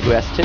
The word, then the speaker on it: Vestige: On Belgia Vestige, pronounced the British style, because we have the Hogwarts clothes on today. Yes. In American, it would be Vestige.